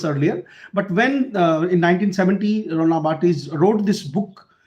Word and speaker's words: Barthes: इसको Roland Barthes भी बोल सकते हो आप, but because it's a real pronunciation, the name of the writer's name's pronunciation is Roland Barthes.